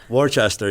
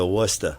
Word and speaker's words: Worcester: Well, as kid Wora, you can't go to Wartchester. You got to go to Wora.